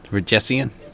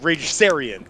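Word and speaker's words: Ragesian: I can't say it reian reian thank you wow I was like reran no that's right exactly you wanted to put too many syllables yes the reian Empire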